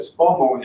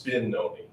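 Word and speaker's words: Spinone: Well, this is Spinoni. Oh, Stononi. I thought you said Spumoni. It's Spinoni. Oh, Spinoni.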